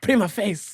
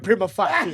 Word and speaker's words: prima facie: I remember the other day I was trying to pronounce. I was watching one of the episodes. Prima facie. You say prima face, and then he's like, hey, prima facie.